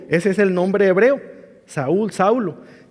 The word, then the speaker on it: Saúl: que significa su nombre saulo era un nombre hebreo se pronuncia saúl le suena a ese nombre a otro personaje del antiguo testamento el primer rey que hubo ese es el nombre hebreo saúl saulo y significa llamado